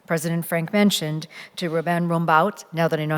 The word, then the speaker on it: Rumbaut: particular, and as President Frank mentioned, to Ruben Rumbaut, now that I know how to pronounce the name properly.